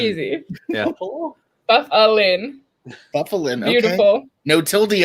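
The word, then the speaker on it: Byfuglien: It's so easy, and like for some of these, I like wrote it out phonetically just to like show you. Wait, no, okay. Wait, there you go. Buffalin. Easy. Yeah. Buffalin.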